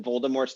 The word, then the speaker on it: Voldemort: did you know that voldemort's name was supposed to be pronounced voldemort yeah without the final t and like just everybody